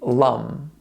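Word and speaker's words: Lam: For chakra number 1, the seed syllable will be lum, and it will sound like this. Lum.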